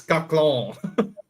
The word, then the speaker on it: caquelon: It's caclon. Caquelon. No, I wouldn't have said that. Quaquelon. What do you mean, monsieur? Caclon. Like a French pronunciation.